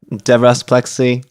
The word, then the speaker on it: Devras Plexi: here with today my name is Devin uh Deborah's plexy you listen to music who is Devin aka